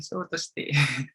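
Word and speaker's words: ショートステイ: Short time ini atau dalam bahasa Jepangnya itu sotoste ini bacanya ya, sotoste.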